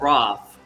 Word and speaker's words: ROTLH: If you don't wish to write it all out, it would be, you can spell it out as ROTLH. But So the it's L is pronounced silent. Roth, but And the L is silent.